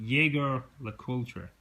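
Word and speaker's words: Jaeger-LeCoultre: useful I have uh and I'm going to pronounce this wrong obviously Jagger La culture is that correct it's called jlc um reversal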